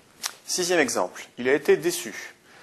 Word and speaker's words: déçu: Alors, par défaut, le C devant le U se prononce durement, se prononce que, c'est-à-dire avec un U, ça fait Q. Mais là, on veut que ça fasse SU, donc on rajoute une cédille.